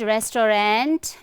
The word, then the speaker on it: restaurant: It's not restaurant, it's restaurant, restaurant, okay? Not restaurant, but restaurant. So the American and British